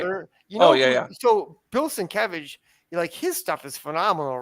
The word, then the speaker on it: Sienkiewicz: How do you pronounce his name? Sienkiewicz.